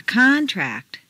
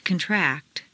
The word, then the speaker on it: contract: In the list below, change the stress from the first syllable for nouns to the second syllable for verbs. This is a regular, consistent change. Intonation is so powerful that you'll notice that when the stress changes, the pronunciation of the vowels do too. Repeat. An accent. To accent. A concert. To concert. A conflict. To conflict. A contest. To contest. A contract. To contract. A contrast.